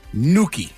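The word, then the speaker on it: gnocchi: The pronunciation of this word seems so simple once you see it laid out phonetically. It's easy. No problems. Just call it and you're good. Says, "Okay, maybe we're lying about it being simple once it's laid out phonetically. It's still damn hard to say, but uh that's why you're that's the way that you're supposed to say it.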